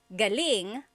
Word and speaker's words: galing: have different meanings yes so galling the emphasis is on the first syllable that means coming from David Jor on Instagram just asked the same question too galing means good or great so if the emphasis is on the second syllable galing that means good or great or excellent yes as air Kevin